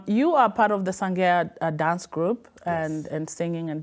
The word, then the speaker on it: Sangea: But the name Sangea is from a Liberian name that would be given to a female, which is Sangea. Oh. Yeah, pronounced Sangea.